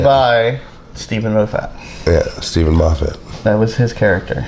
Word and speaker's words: Moffat: Yeah, Stephen Moffat. That was his character. Said Moffat. That's how they pronounce it in America.